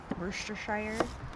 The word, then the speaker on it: Worcestershire: How do you pronounce that one? Worcestershire.